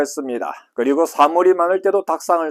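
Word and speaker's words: たくさん: 다시 말하면 쿠 뒤에 사형이 오면은 사시스세소 이런 철자가 오면 쿠는 뭘로 된다? 묵음 처리된다. 쉽게 표현하면은 발음이 되지 않고 한 박자 쉬어준다. 탁구상을 닭상 이렇게 발음을 한다.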